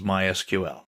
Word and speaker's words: MySQL: so what is MySQL well it's a version of SQL we'll talk about that in a minute people in the know don't say MySQL they say my SQL that's generally how it's pronounced in SQL is usually